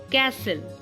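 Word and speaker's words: castle: tomato tub test extra T silent कब होता है जब एस टी एल किसी वर्ड के पीछे जड़ जाता है जैसे कि सी ए एस टी एल ई डब्लू आई एस टी एल ई एनई एसटी एल ई तो यहां पर इन वर्ड्स को हम ऐसे पढ़ते हैं कैसल विसल नेसले ओके टी यहां पर साइलेंट है अब अगर टी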